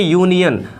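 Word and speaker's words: union: है बट इस कि अगर उच्चारण कि हम बात करें तो इसको कहते हैं यूनियन अर्थात इसका उच्चारण यहां से हो रहे यूनियन तो इसके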